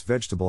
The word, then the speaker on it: vegetable: Phonetic Alphabet to pronounce vegetable have in mind that the size of the syllable indicates where the accent or stress is in this case the accent is in the first syllable corresponding to VI low